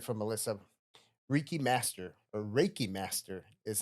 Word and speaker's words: Reiki: Ricky Master or Raiki Master is how you actually pronounce it.